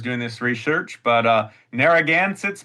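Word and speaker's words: Narragansetts: this research, but uh, Naragansits, Moheagans, and Peekquats is how I would pronounce those and they would pronounce them at this point.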